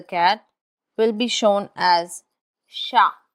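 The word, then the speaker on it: chat: For example, cat, which is sha in French, is taught using the English script sha.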